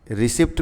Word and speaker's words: receipt: नहीं होता है रिसिप्ट रिसिप्ट में जो पी होता है ना वह साइलेंट रहता है ठीक है इसको कहते हैं रिसिप्ट रिसिप्ट पहले हम लोग